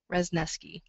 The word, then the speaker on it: Wrzesniewski: that I use is I had an uncle who used to call me resneski so it rhymes with if that helps and